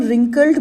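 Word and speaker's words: wrinkled: face हज become रिंकल्ड बेटे हम रिंकल्ड बोलते हैं बट स्पेलिंग इसका व से शुरू होता है इट्स रिंकल्ड का मतलब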